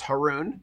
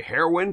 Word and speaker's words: Haroon: And they said they pronounced my last name correctly, which is Haroon, which rhymes with baboon.